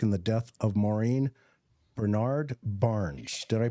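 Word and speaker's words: Brainard-Barnes: Heuermann is also the prime suspect in the death of Maureen Bernard Barnes. Did I pronounce that right, John?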